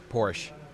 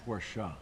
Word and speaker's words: Porsche: Not just MR, but Porsche. At least I'm wearing the right shirt today. Yes. And it's pronounced Porsche.